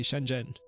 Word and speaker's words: Shenzhen: you a little shortcut say Shenzhen you know like you're talking to your best friend Jen and well then you're